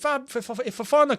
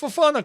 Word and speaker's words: Fofana: rumors about chaliba if ifana comes in almost got his name wrong if fufana comes in what we going